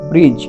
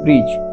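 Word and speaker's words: bridge: ইংরেজি শব্দের মধ্যে ডি এর পর জি আসলে ডি এর উচ্চারণ হয় না বা ডি অনুচ্চারিত থাকে আমরা উদাহরণ সহজে গিয়ে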